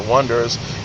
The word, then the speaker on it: Oneders: That Thing You Do follows the rise and fall of the Oneders, pronounced the Oneders, a one-hit band in 1964.